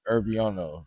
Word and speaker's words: Irvyono: I'm not going to spell it out because y'all going to see it in the link. But Herbiono, that's how you say my name.